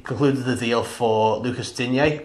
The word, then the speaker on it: Digne: I've said his name right this time. Yeah, that someone put it on Twitter, didn't he pronounce it, yeah? Digne. Whoever did that, thanks. I think it was Alan Myers. Yeah, sounds sexy, that's Digne. Yeah, so cheers, Alan. Thanks for giving us the correct pronunciation.